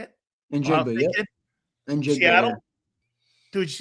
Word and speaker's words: Njigba: Njigba, yeah.